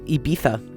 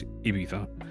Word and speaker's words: Ibiza: Well, because like it's in Ibiza, right? Ibiza. Instead of Ibiza. See, that's interesting because Ibiza is spelled with a Z. Right, yeah, but they put the th.